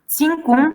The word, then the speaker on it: zincum: Now, these two words are of Arabic origin. That's why we have to pronounce as ц. Zincum and influenza.